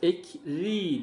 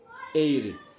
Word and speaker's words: eğri: gef var R var Normalde biz bunu kef olsaydı ekri diye okurduk değil mi y de var bakın burada ekri ekri diye bir şey yok eyri bakın gef geldiği için genelde yumuşak G şeklinde okunur eğri eğri celd şurası cetvel